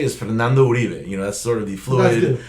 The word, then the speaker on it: Uribe: At the beginning of the program, I asked you how you pronounce your name, Yoribe or Uribe. It doesn't matter how people, because I know in Spanish it's Uribe.